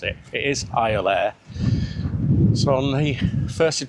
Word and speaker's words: Iolaire: We wanted to get it right, so I just Googled how to pronounce it. It is Iolaire.